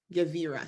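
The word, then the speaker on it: גבירה: So for the root word gevar, which is like a strong man. And then when it's feminized with that ah sound at the end, it's literally the translation of strong woman.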